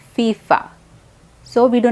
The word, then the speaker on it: FIFA: these are basically words fifa makes a fu sound at the beginning like any word for right it's the same thing fifa so we do not